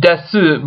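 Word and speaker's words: です: It's, you see desu, but it's pronounced desu.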